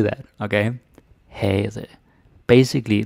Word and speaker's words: havde: Havde, right? Damen havde. The V is not pronounced. You don't say havde, or havde, or havde. I can't even say that. We don't say that, okay? havde.